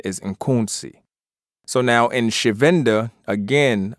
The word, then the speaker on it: Nkunzi: the proper, right knowledge, African pronunciation of this word mispronounced Khensu would be Nkunzi, I-N-K-U-N-Z-I, Nkunzi.